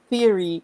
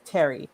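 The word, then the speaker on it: Thierry: Everybody's saying it's Theory, and no, it's Terry. That's how you pronounce her name, Terry.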